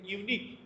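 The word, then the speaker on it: unique: কেন এ হবে, যেহেতু এখানে ইউনিক, ইউ এর উচ্চারণটা ইউ এর মতো করা হয়েছে, সেজন্য এখানে এ ব্যবহার করা হয়েছে।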